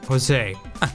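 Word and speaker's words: José: And the other guy's name's usually accent, it's pronounced Jose.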